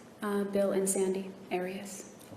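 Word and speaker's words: Arias: I've heard it pronounced about seven different ways. Um, I say Aras as does the rest of my family.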